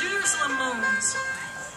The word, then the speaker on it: Jerusalem Moans: It's Jerusalem Moans.